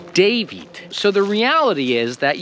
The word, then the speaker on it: David: If you were pronouncing the first D of David like you're pronouncing the last letter, David, well then you would be saying Tavit, but you're not saying Tavit. You're saying David.